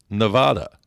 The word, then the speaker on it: Nevada: It is a Spanish word, and as a Spanish word, it means snow-capped, and it's pronounced Nevada.